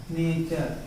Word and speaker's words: nature: तो इसका प्रोनाउंसिएशन क्या हो रहा है, उच्चारण, नेचर। मतलब टी को हमने क्या पढ़ा, च पढ़ा।